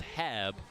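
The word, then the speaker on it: Haab: first talked to him he said it's pronounced Hab like cab and I think about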